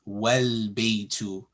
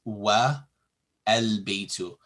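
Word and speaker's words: وَالْبَيْتُ: is also dropped, and the phrase is pronounced wal-baytu, not wa al-baytu.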